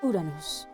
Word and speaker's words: Uranus: In this time, they also crafted 3 almighty weapons: Pluton, Poseidon, and I'm gonna go with the Japanese pronunciation here because we don't want to get demonetized, Uranus.